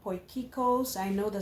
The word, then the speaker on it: Potjiekos: from South Africa and my dish is called Poikos. I know the spelling doesn't look like it but that's the way it's pronounced.